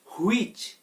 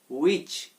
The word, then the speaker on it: which: হুইচ। হুইচ বলি আমরা, হ আসবে না এখানে। এটার উচ্চারণ তাহলে কি হবে? উইচ।